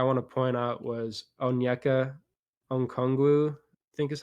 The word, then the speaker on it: Onyeka Okongwu: And another guy I want to point out was Onyeka Okongwu, I think is how you say it.